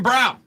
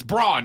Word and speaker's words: Braun: job of it Christian Brown the guy who doesn't know how to pronounce his own last name it's Brawn not brown but hey you do